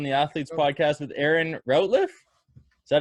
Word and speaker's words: Routliffe: Starting on the Athletes Podcast with Erin Routliffe.